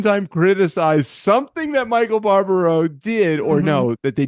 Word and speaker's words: Barbaro: Barbaro, he only says it every single episode.